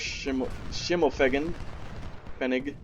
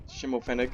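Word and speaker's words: Schimmelfennig: So there goes Schimmelfegen. Schimmelfenig. I think it's actually how it's pronounced.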